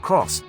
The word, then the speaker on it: Aygo X: these days oh and that X is actually pronounced cross despite not being written out in full like on the back